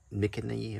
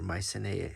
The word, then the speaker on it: Mycenae: I bought this in Greece at a stop outside of Mycenae or Mycenae, depending on how you pronounce it.